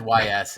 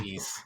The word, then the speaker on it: Ys: pronounced the first time I always said Ys until somebody said it was East and I was like